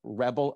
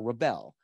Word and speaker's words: rebel: So the nouns have the stress on the first syllable and the verbs on the second syllable.